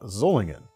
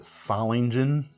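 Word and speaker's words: Solingen: If you just look up pronunciation online, I think the top result right now is a very English pronunciation of the word salingen. But I used I I learned to pronounce this word with the kind of sz the zz sound zulling from our friends at Boer Germany.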